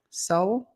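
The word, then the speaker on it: Sowell: It's s o w l. Soul. Soul. They just pronounce it soul. S o w e l. I would say soul.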